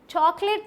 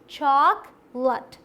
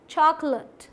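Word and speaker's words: chocolate: जी हाँ, चॉकलेट नहीं होता, यहाँ कोई लेट नहीं है, यहाँ पे लट का साउंड आता है, देखिए चॉकलेट, चॉकलेट, क्लियर।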